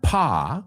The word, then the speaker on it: pas: Now, if we add the word pas, que se escribe P-A-S, porque es francés, no se pronuncia la S, es un paso en falso, una metedura de pata.